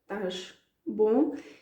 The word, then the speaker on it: estás bom: That's why you hear that sh at the end of the verb. Estás bom.